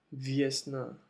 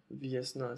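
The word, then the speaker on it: весна: Acuérdense también en la pronunciación de la letra V, que es V y no es B, no es B, aunque aquí parezca que es una B, pero en ruso es es la V.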